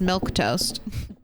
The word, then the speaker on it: Milquetoast: that grouping of letters just the way you think it is milk toast but uh let's see